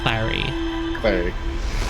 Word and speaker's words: Clary: Something that rhymes with Gary. Clary.